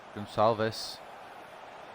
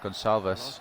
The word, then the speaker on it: Gonçalves: Gonçalves. That's how you pronounce it. I was curious. Gonçalves.